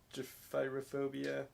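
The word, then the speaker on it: Gephyrophobia: Gyphyrophobia.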